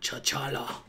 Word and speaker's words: T'Challa: T'Challa.